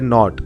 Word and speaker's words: knot: पहले नोट आता है अब तीसरा वाला जो आपको दिखाई दे रहे नोट या फिर के जो है वह साइलेंट है तो मतलब क्या लिखा